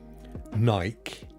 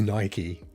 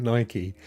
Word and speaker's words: Nike: So, but it may just be one of those things, like some people say Nike, but it's definitely Nike. It's 100% Nike.